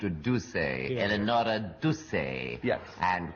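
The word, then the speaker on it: Duse: Eleanor Deuce, can you tell us something about her? In 60 seconds, starting now. Well, of course, it should be pronounced Duce, Eleonora Duce.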